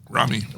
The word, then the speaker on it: Raimi: Rami.